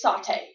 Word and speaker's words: sauté: It's saute. Oh, again, saute.